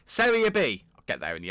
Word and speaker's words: Serie B: The game against Frosinone coming up in Serie B. I said it wrong. Serie B.